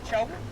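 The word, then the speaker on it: Trong: The cave name Chong, the local name of it, Chong Cave. How to spell it? We name it T R O N G. Chong Cave.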